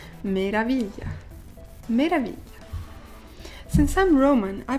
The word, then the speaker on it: meraviglia: Meraviglia. Meraviglia. Meraviglia. Since I'm Roman, I pronounce meraviglia like meraviglia, but it's actually meraviglia because it's GL, so meraviglia.